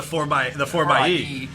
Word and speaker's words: 4xe: Oh, the 4xe.